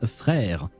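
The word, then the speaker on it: frère: And in French, you say Fra. There you go. That's how it's written. And it's pronounced Frra.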